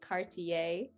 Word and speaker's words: Cartier: tricked you i'm sorry the a is french that i e r turns into a very light a y sound um and that's just